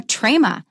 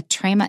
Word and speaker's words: trema: It has two special names, and they are trema, T-R-E-M-A. T-R-E-M-A, trema. Trema means that we pronounce it as a separate syllable.